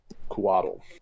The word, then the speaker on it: Couatl: That's spelled Couatl. Kuatl. Kuatl. That's exactly the inflection they say it on D&D Beyond.